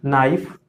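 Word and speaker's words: knife: pack correct pronunciation इसका 9 लिखा है यह नाइफ यह नीम यह नोट इसको कनेक्ट नहीं छोड़ेंगे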